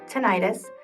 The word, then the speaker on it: tinnitus: Today I'm going to talk about tinnitus. You may also hear it pronounced tinnitus. Tomato, tomato, whichever way you choose to say it, it's annoying no matter what.